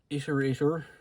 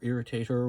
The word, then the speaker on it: Irritator: We have the Iterator, or Irritator, whichever way you want to pronounce it.